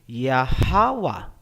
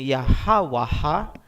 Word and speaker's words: Yahawa: Hindi ba dapat naging yahawaha? Hindi po. Kasi ang a binibigkas kung may susunod pang syllable. Kung wala ng susunod na syllable pagkatapos ng last letter, hindi na po bibigkasin ang tunog na a.